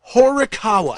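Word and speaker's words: Horikawa: So, his new album, and I'm talking about Yosi Horawa. Spell it.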